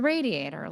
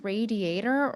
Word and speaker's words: radiator: But is it radiator or radiator? I remember the realtor and the contractor pronouncing it rad and not ray or did they call it a radiator? Must be regional.